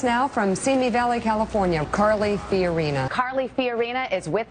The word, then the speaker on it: Carly: And although there is really only one true winner, and her name rhymes with gnarly, today she was nothing if not on message. Joining us now from Semi Valley, California, Carly Fiorina.